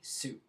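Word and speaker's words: syg: I've have been sick so long when you're pronouncing Su sick be careful because it's Sy YG Su um which is different from syy V Sue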